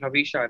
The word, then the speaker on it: Havisha: So Havisha, let's quickly start your am I pronouncing your name correctly, Havisha? Right? Yes.